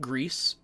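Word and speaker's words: Gris: potential if you like Greece and by Greece I mean g r i s the uh pronunciation for the color not the substance that your mother clearly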